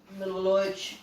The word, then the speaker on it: Milivojevic: Milivojevic. How do you say it? I say just like you say it, just like that, yeah.